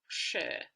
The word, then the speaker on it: sjö: And we find the sound sh also in the word for sea or lake, sjö.